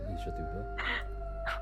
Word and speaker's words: Ishathupa: Yeah, Ishathupa. Oh. Man, I was not pronouncing it right.